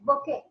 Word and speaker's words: bouquet: Bouquet. Okay. Bouquet, at the end we have the letter T, but that particular T must not be pronounced. Okay. Bouquet is bouquet, that's all.